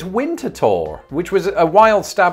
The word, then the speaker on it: Winterthur: answer to this but according to someone's blog it is winter tour which was a wild